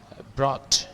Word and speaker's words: brought: Brought, ingat, gak ada g-nya cara bacanya, BROT aja, tambah ada h-nya dikit deh, brought gitu ya, brought, hilangkan g-nya, ini sering kali salah, brook salah itu, brought in reinforcement to siege the city.